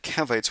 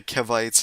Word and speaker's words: Cavite: Kevites is not not right.